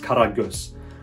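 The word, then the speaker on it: Karagöz: niche fragrance it's called kara ghost well it's a turkish word and in turkish it's pronounced karagus which means like black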